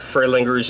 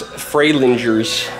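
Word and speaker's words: Fralinger's: those are my favorites i've been saying it wrong the whole time it's fray lingers the young lady here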